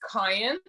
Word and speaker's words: Cian: Mum of Cian, is that how you say it? And Sunny Ray? It's Kyan.